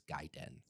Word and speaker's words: Gaiden: Because I I grew up always saying Gayen and then I think I got corrected at some point. I mean the I think the official like proper pronunciation like if you're talking from like a Japanese perspective is Gaiden.